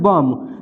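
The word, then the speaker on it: bomb: जैसे यहाँ पे है बम, तो बी देखिए एम के बाद है तो बी साइलेंट है, इसको सीधे बम पढ़ेंगे, बम माने बम होता है।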